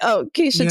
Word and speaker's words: Keshia: I'm Keisha. It's spelled Keshia, Keshia.